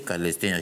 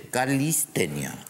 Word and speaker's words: calistenia: que entre calor no no se dice calestenia dice calistenia es con i no con e Disculpe la mala ortografía